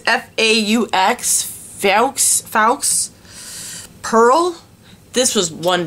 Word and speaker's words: faux: It's F-A-U-X, Faux, Pearl.